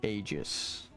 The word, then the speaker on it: Aegis: The weapon chain and the Aegis. Aegis? Aegis? They give different ways to pronounce it.